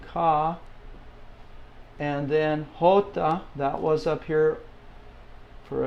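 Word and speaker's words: jota: you have the J the name is hota okay I put a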